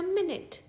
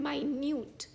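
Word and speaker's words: minute: जैसे कि आई shall be ready in अ मिनट इस शब्द का दूस दूसरा प्रोनंसिएशन है माइन्यूट यानी कि छोटा या बारीक फॉर एग्जांपल वी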